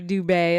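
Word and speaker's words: Dubé: Kerney dub dubet okay I need that little Accent on the E Dubay it's nice to meet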